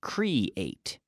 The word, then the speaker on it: create: Okay, think of the pronunciation like the number 8, but create, C-R-E-A-T-E.